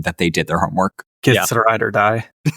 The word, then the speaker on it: githzerai: Whereas gith githzerai Do I pronounce that correctly? Githzerai? Githzerai monks build entire monasteries with their minds.